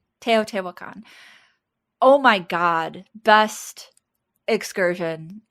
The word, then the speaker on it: Teotihuacan: I pronounce it Teotihuacan. Teotihuacan.